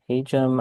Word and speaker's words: Hajim: So, as you may have heard me say, the engineering school is pronounced the Hum School.